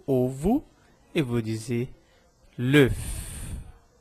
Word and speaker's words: l'œuf: Então, o ovo, eu vou dizer l'œuf. Eu pronuncio o F no final. L'œuf.